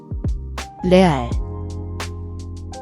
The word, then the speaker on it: 레알: Watch your pronunciation. The re is a flapped sound, similar to the tt in American English butter. Don't roll your r like in Spanish.